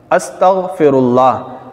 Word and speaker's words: استغفر اللہ: کر بتا رہا ہوں، استغفر اللہ، الف اس کے بعد سین، پھر تا، پھر غین، اس کے بعد فا، پھر را، اس کے بعد یہ الف لام ہا، استغفر اللہ، یہ صحیح تلفظ ہے۔ تو ہم استغفر اللہ